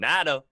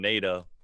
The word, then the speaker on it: Nato: that's why that's why I got you saying natto cuz I didn't want people saying Naida yeah and people still